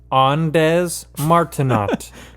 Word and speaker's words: Ondes Martenot: It's, if you're gonna go phonetically, it's Andes Martinot. Just type that in. Ondes Martenot. Yeah, just look that up on YouTube. You can find videos of it. And if you're French, just take out all the consonants and then pronounce it.